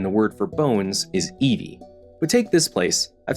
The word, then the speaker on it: iwi: If there are any other letters, it's the V sound. So this city is pronounced Eva, and the word for bones is Evi.